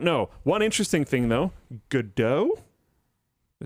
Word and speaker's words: Godot: One interesting thing, though, Godot, did I say it right? There you go. Godot is free.